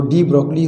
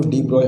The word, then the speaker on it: de Broglie: तो डी ब्रॉगली हो, डी ब्रॉय, हम लोग को तो पढ़ना है, अच्छा काम कर गए तो उसी को हम लोग पढ़ रहे हैं।